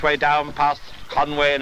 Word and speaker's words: Conwy: here's the little tiny trickle of the infant Conway coming out of the lake at the start of its career and from now on we're going to give it it's correct to Welsh pronunciation but Conway the first bridge I always feel that there's